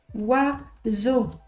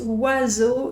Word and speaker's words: oiseau: Et en fait, on prononce oiseau. C'est comme ça. Allez, on accepte. C'est comme ça. On prononce oiseau.